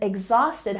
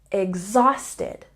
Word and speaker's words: exhausted: first syllable Furious and exhausted has a stress on the second syllable exhaust usted exhausted number three instead of